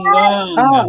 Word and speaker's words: Nganga: Nganga, attention à la prononciation Nganga.